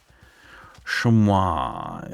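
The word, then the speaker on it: chamois: Shamua is what it's called. to people that aren't American. I guess that's how you say it in French. And as it's a French word, seems apt.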